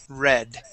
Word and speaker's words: read: word read, to read, it switches to a short E sound. Okay, so even though they're spelled the same, read and read, okay, spelled the same, but past tense is the short E sound, read.